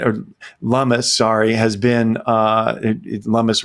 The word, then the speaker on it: Lummis: Look, Cynthia Lummis, Senator Lummis has been, or Lummis, sorry, has been, Lummis rhymes with hummus, I think.